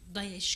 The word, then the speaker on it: DAEŞ: Biz İslam kelimesini kullanmamamız için DAEŞ kelimesi Arapçada da telaffuzuyla DAEŞ diye geçer.